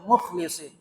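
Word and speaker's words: مُخْلِصِين: kami yang mukhlasin mukhlasin sebagian para qura para ahli al-qur'an membacanya para ahli qiraat membacanya mukhlasin sebagian lagi membaca Mukhlisin dua-duanya benar Mukhlisin berarti orang yang ikhlas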